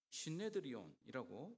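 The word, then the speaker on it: συνέδριον: 어 유대 민족의 의회이며 대법원이 바로이 산 헤드린 헬라로는 신네드리온이라고 불리는 발음이라고 보면 되겠습니다.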